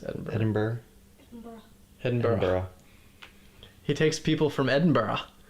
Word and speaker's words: Edinburgh: How do I pronounce Edinburgh? Edinburgh.